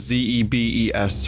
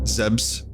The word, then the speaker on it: Zebes: I call it Zebes. Some people call it Zebs. Some people call it Zebesh. So, yeah, I mean, the whole Zebes pronunciation thing, that's something I never quite mastered.